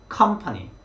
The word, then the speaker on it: company: 그럼 여러분들은 company, company 이렇게 발음을 하시면 좀 더 1음절에 강세를 두고 발음을 하고요.